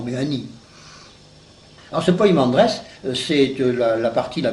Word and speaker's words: Poimandres: D r e s quelquefois on met P e mais enfin c'est plus facile de le prononcer avec poi P i m a n D r e s poimandress parce que je crois